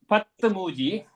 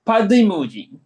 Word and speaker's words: padimuji: Now 13 is not patmuji. It will be padimuji.